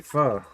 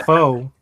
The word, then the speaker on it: pho: And I did say pho. That's the correct way to say it. It ain't pho.